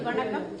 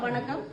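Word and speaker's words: வணக்கம்: En fait, tout d'abord, vous m'avez dit Vanakam. Vanakam. Vanakam. Voilà, on commence par Vanakam. Est-ce que je le prononce bien?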